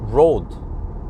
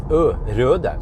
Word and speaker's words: Røde: But it's kind of funny because people pronounce it as road, but it has that and in Norwegian and in Danish it's røde. So actually, if we pronounce it in the Nordic way, and even in Swedish, we have to pronounce it as røde. And I think many Norwegians, they actually call it røde microphone, but it's actually called Rode microphone.